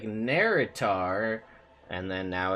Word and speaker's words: Naerytar: you spell it and we were like it sounds like nerrit are and then now it's